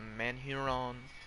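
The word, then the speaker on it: Manurhin: gn use on rainbow the real life term for that gun is the man huron it it's spelt like manchurian it's french it's cool mr 73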